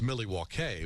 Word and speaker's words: Milwaukee: So, and you know better than anybody then that it's pronounced Milwaukee, which is Algonquin for the good land.